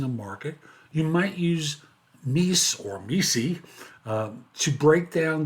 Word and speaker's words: MECE: One popular framework used in case interviews is MECE, or as Barbara Minton, who created it, pronounces it MECE, but you pick the way that you're more comfortable with. Mutually exclusive, collective, exhaustive framework.